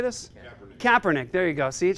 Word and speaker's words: Kaepernick: Colin Kaepernick Kaepernick how do you say this Kaepernick there you go see it shows you how